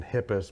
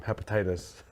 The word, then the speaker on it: Hippis: Their really name is and Hippis, but one of our friends, Tracy Burdett, mispronounces everybody's name, called him Hepatitis.